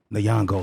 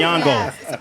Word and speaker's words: Nyong'o: Oh man, we got the wonderful, the magnificent, the incredible Lupita Nyong'o, ladies and gentlemen, is here with us today.